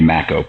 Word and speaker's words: Makow: I am and congratulations for getting the pronunciation of my name correct all right I remember from from the first time you said like tobacco that was a easy